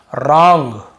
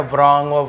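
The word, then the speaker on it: wrong: rap rapper wrinkle wrist कहीं पे भी डब्लू को हम पढ़ रहे हैं क्या वरंग राइट रैप रैपर व को हम पढ़ ही नहीं रहे क्योंकि डब्लू के साथ आर है तो केवल हम आर को पढ़ेंगे यानी कि डब्लू को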